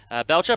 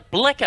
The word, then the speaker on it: Blecker: Kendra Hull, the Canadian, before Belcher. Blecker, actually, how it's pronounced.